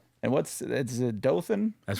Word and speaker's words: Dothan: And what's is it Dothan? That's right. You pronounced it correctly. That's That's amazing. I Yeah, I was hoping it wasn't Dothan, but yeah. See, I always hear Dolan.